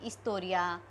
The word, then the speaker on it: historia: So, you can say anything: professor, soy profesora de English, soy profesora de historia. H is silent, you remember in Spanish.